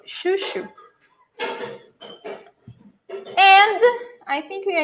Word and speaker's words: chuchu: So, chuchu, not choo-choo. Don't forget this. It's chuchu.